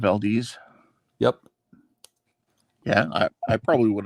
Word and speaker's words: Valdez: What was funny was that my dad was very impressed when people pronounced it correctly after that, because everybody thought it was Valdez initially. Okay, instead of Valdez.